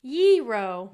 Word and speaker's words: gyro: Gyro. Yee-ro. That says G-ro.